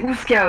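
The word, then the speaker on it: Oozka: Non, c'est pas comme Kazoo, c'est Ouska, ok?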